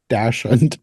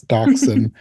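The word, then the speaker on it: Dachshund: the Stray male doc I always want to say dashen because of the way it's spelled but it's docen um he voiced the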